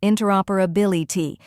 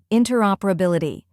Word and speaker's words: interoperability: like T let's put it all together slowly interoperability try repeating after me interoperability now a little faster interoperability and at full